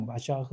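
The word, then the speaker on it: מָשַׁח: 어 히브리어 발음으로 하면 마샤흐샤흐라 마샤흐 뭐 메사아 메시아라는 뜻이 메시아가 온다는 것까지 하나님 응답이신 놀다운 역사인 줄 믿습니다.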